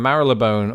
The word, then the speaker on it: Marylebone: How in the hell do you pronounce Marylebone? Marylebone, although some people might say Marylebone.